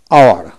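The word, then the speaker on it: hour: এভাবে এইচ ইউ আর আওয়ার, অর্থাৎ কি এইচ উচ্চারণ হবে না, ও ইউ আর আওয়ার উচ্চারিত হবে।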